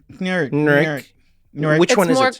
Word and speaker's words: Knurick: I thought it was Knurick, and then someone else was like Nurik. Nurik. Which one is it? It's closer to the second one. It's Nurik. It is Nurik. Yeah. The K is silent like knife.